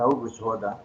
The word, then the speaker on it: Auguste Rodin: E aí, o escritor e mestre Auguste Rodin, que a pronúncia é francesa, Auguste Rodin, diz que aquela imagem,